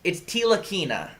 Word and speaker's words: Ntilikina: Okay, it's Ntilikina. Ntilikina. Don't pronounce the All N. right. That I learned that. The silent N.